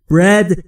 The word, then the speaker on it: bread: Bread یعنی نان. دوستان تلفظش رو دقت بفرمایید. Bread نیست. Bread به این دلیل که بین B و R صدایی وجود نداره.